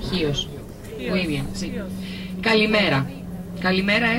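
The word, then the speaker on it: Χίος: español, en inglés, pero en griego se escribe con X, y el X en griego se pronuncia como el J en español. Chios.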